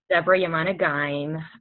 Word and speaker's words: Debora Yemane Ghaim: Deborah Yamana Gaim.